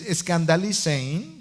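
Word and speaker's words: σκανδαλίζειν: La palabra griega traducida como causa de pecado, que es como aparece traducida en algunas versiones, es escandalizein, sería la pronunciación en español, que significa el hacer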